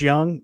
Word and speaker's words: Jung: and I was like you can't have two J's in your name and pronounce them differently just it's not the way the alphabet works so pick pick a lane it's either Yash young or Josh Jung so I have three